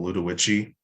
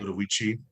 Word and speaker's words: Ludowici: I think it's called Ludowici. Okay. Ludowici. In the South, they pronounce it different, but when you're from the Midwest, you pronounce it proper, right?